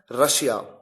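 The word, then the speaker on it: Russia: एक एग्जांपल और है रशिया। रूस देश का नाम है।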